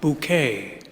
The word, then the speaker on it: Bucket: This comedy show had a protagonist named Hyacinth Bucket, but she insisted that the correct pronunciation of her name, spelled Bucket, was in fact Bouquet.